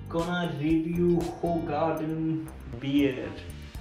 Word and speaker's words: Hoegaarden: While हम इसे pronounce करते हैं होगार्डन नाम से, लेकिन एक्चुअल में बेल्जियम में इसे प्रोनाउंस किया जाता है होगार्डन।